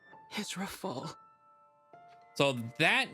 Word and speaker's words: Rafal: My name is Rafal.